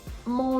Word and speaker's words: mon: And the final sentence, mon logement est simple. In this sentence, we have another nasal with mon, so the N is not going to be pronounced.